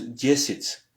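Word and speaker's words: десять: Au fait, c'est écrit diesiat, mais ça se prononce diesit.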